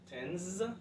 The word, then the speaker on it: tens: So which is to say you pronounce them like this. Tens, there's a Z sound at the end.